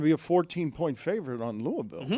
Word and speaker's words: Louisville: are going to be a 14-point favorite on Louisville.